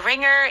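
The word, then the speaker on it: wringer: some through the ringer the ringer is spelled w r i n g e r so this is whenever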